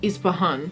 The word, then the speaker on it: Ispahan: this christine dior hood ispahun perfume did i pronounce it right it's ispahan yeah hood is pahan